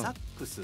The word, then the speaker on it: SAXX: そう、ボールパックポーチ SAXX と書いて、うん、サックスって読むんだけど